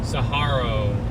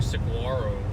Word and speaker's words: saguaro: Saharo. I don't know why I've always called him a Siguaro. If that's how you pronounce it, I'll pronounce it that way. Uh even though I'm an Arizona native, I still You're the first person that's corrected me. Okay. So, that's the right way.